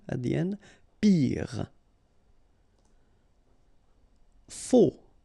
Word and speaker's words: faux: Faux. Okay, final X not pronounced. Then you get this AU together. O. Faux.